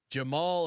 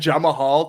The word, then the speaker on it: Jamahal: you included the pronunciation the amount of people who have said jamahal to me because that the name is wild looking like there's no need for an H there you know no there's